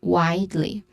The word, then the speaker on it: widely: Widely has a stressed syllable in the first syllable. Has a first syllable is stressed Y, which has a clear I sound, and I sound here is a diphthong sound. So widely.